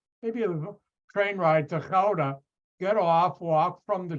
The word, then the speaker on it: Gouda: Americans pronounce it Gouda. No, it's Gouda.